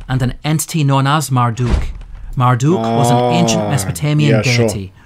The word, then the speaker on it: Marduk: the city of Babylon Marduk is the name commonly associated with the deity in modern times however it was actually pronounced maruto in Babylonian scholars believe that this